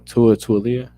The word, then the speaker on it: Tualia: Tualia. I know Talia Tagovailoa. Yeah. Yeah, it's like it's spelled like Tua, but just Lee at the end.